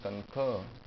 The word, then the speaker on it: concur: very softly I must concur the stress is here concur I must concur where